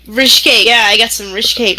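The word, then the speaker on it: ryshcate: Rishkate? Rishkate, yeah, I got some Rishkate hidden away.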